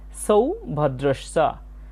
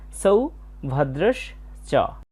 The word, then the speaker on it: সৌভদ্রশ্চ: আমরা প্রথমে দেখতে পাচ্ছি সৌভদ্রশ্চ, এখানে দন্তস্বয়ের উচ্চারণটা ছয়ের মতো হয়েছে, সৌভদ্রশ্চ।